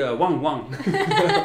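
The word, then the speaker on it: ワンワン: It's going to be wang wang. Wang wang. Almost every time in Japanese is going to be one syllable repeated twice.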